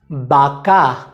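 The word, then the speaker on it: vaca: अगला नियम यह है कि स्पेनिश में उ बे या वे का उच्चारण बे जैसा होता है, बे बे। उदाहरण के लिए बाका जिसका मतलब है गाय,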